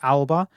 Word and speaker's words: Alba: Now, I will say it is pronounced Alba. For those who, like me, know that ALBA is also the Gaelic name for Scotland, which is pronounced Alaba. That's not how this game is pronounced, it's Alba. So it's how probably Americans would expect it to be said, but I just needed to check.